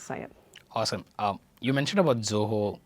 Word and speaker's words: Zoho: When we came into, though it is pronounced as Zoho, that we were being introduced as small office and home office.